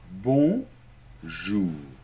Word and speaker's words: bonjour: très bien bravo alors ensuite la lettre J on verra les lettres dans la leçon 2 se prononce un peu comme quand tu dis jazz le jazz mais il y a pas le D devant Jaja hein cette partie seulement donc bon jour ensuite très important les